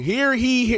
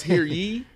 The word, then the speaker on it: hear ye: Hear he. It's hear ye. Hear ye. I think it's ye. It's definitely 100% ye.